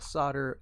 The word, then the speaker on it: solder: how do you spell solder? And then why is it that hooked on phonics? I don't know why the L is silent.